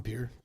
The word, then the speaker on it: Pierre: it is pronounced it spelled Pierre but it's pronounced Pierre so did you are you all from the pure area I'm from Pierre I'm from Pierre - yeah yeah we live